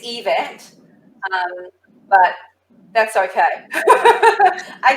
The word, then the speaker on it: Yvette: a bit oh yeah you probably did it's event um but that's okay i take almost anything